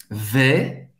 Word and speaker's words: vais: Je vais, mais aberto, quase sorriso. Vais, je vais. Você não vai pronunciar o S no final.